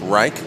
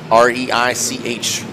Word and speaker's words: Reich: I believe it's pronounced Reich. R-E-I-C-H. Reach, Reich.